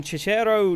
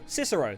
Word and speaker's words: Cicero: a leaf uh from chero New York cisero cisero there we go it's it's spelled with C so I thought it was a CH from Cicero New York